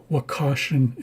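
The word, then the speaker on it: Wakashan: So again wakashen is the pronunciation of this language family.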